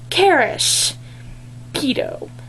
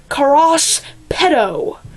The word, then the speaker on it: Karis Pedo: Okay, one of my main characters in the book that I'm currently writing is pronounced Karis Pedo. Okay? Not Karas Pedo. No, that is not how you pronounce it.